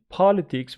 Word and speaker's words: politics: This one is politics with the stress on the first syllable. This one is an adjective, political, the second syllable.